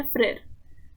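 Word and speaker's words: frère: Okay, यहाँ पे brother के लिए जो टर्म यूज करते हुए है वो है फ्रेर, प्रोनाउंसिएशन है फ्रेर।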